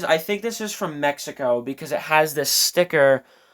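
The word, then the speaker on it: México: here and it says Hasbro de Mexico or Mexico actually is how you pronounce that. But, um I believe that is Spanish.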